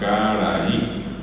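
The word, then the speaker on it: karaí: que leo la palabra pero la palabra es carayí y si yo le pongo el acento a va así caray era ray raí ray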